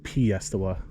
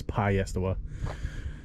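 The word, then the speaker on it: Piestewa: be pine so peak i hear people pronounce it p estela that's pi yestawa uh and then and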